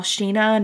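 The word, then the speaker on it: Sina: think it's i think it's pronounced wall sheena not cena it's written cena but it's i think it's pronounced sheena um and so he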